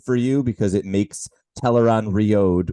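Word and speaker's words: Tel'aran'rhiod: you because it makes teleron riode which is how I have to pronounce that now because of the television show it makes it a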